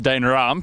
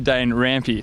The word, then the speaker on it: Dane Rampe: is your surname pronounced old Tommy over here says Dana ROM it's actually danger ampie so let's just get